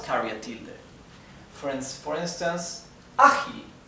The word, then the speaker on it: ágil: However, it is ágil. The accent is in the first syllable.